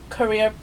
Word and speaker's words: Quorea: Quorea, like the country.